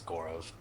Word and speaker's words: Gaurav: So, correct pronunciation. My name is Gorov.